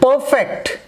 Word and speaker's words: perfect: Okay, the words like object and perfect, when both are playing their role as in noun, here both words are playing their role as in noun.